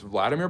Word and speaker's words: Vladimir: or Russian notice it's Vladimir Putin versus vlodimir zalinski um the pronunciation of the name is different because of the different cultures um just like John